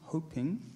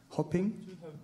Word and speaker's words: hoping: His paper is called The Rainbow People of God, a South African lesson of Ubuntu hoping. How do you pronounce that? Hopping? Hoping. Like hoping.